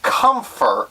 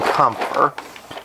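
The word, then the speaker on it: Kämpfer: This is a review of the robot Damashii, or Robot Spirits, figure number 252, the Kampfer. At least I believe that's how it's pronounced. It is German, if I'm not mistaken.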